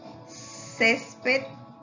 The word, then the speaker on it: césped: ¿Y por qué césped si lleva tilde? A ver, recordemos, lleva tilde primeramente porque la sílaba tónica la tienen en la penúltima, ¿ok? Y por cierto, no termina ni en N ni S, por lo tanto sí lleva tilde.